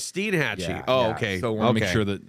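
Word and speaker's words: Steinhatchee: get that one right Steen Hatchy oh it's Steen Hatchy okay so make sure that again pronunciations and you have Cross City and then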